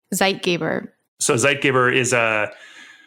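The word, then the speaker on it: Zeitgeber: German okay so it's a German word yeah zeit gabber zeit gabber so zeit Giver is a a German word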